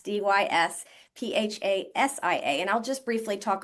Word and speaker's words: dysphasia: So there's dysphagia is spelled Dysphagia, but there's something that sounds very similar, which is dysphagia with an S, Dysphasia.